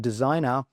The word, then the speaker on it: designer: However, for this one, for the related word designer, G is also silent as well.